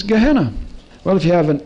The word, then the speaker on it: Gehenna: valley of hinnom and in hebrew valley of hinnom is gehennom and the greek pronunciation of it is gehenna well if you have